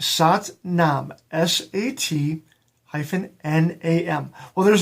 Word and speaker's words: Sat Nam: we use that is a beautiful mantra it's sat nam s-a-t hyphen n-a-m well there's no hyphen it's actually two different words but it it's it worked with me here okay it's sat nam so you would pronounce it during your your